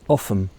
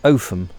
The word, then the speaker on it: Offham: I left off before, towards Offham, or Offham I think is the correct pronunciation.